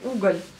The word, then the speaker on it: угол: le mot l'angle, c'est угол. Le mot l'angle, c'est угол. Ne le confondez pas avec угол qui est charbon. Donc угол et угол. Donc prononcez bien le L dur et pas le L mou, parce que le L